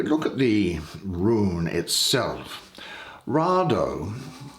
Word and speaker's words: Raido: But if we look at the rune itself, Rado, or it can sometimes be pronounced Raido, it actually means a wagon and traveling by land.